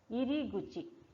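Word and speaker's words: 入口: Next, iriguchi. Guchi. Iriguchi means entrance. Yes, this is kuchi, but when it is using in a word, the pronunciation here became guchi.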